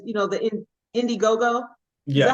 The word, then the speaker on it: Indiegogo: It says, the Indiegogo.